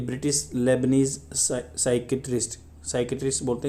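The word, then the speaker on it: psychiatrist: अहमद हंकीर को मिला हुआ है, कौन है ये, ए ब्रिटिश लेबनीज साइकेट्रिस्ट बोलते हैं इसको, पी आगे होगा तो उसको साइलेंट कर देते हैं, साइकेट्रिस्ट।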